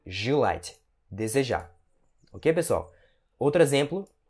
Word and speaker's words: желать: Mais uma vez, esse E é pronunciado com o som de I, então você pronuncia желать, e não желать, ou então желать, certo?